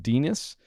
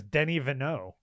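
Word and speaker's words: Denis Villeneuve: and it's basically uh denis which for all english purposes should be pronounced dinus and and after that which i don't know you've settled on something that i want to adopt just for the whole of the show how would how did you go there denis his name is denny vanneau oh danny vaneau i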